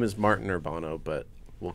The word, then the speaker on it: Urbano: Martin Urbano and Kelsey Caine. Yeah. You did a good job. Yeah. Yeah. Did I mispronounce?